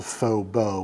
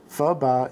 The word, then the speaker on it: phở bò: for you English speakers, it’s not called phở bò with a long O like you might think, phở bò is a Vietnamese noodle